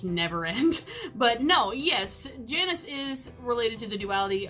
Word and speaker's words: Janus: of duality that it is based on this Janus now the reason why they're not saying that is obviously the pronunciation would be a very remiss directed pronunciation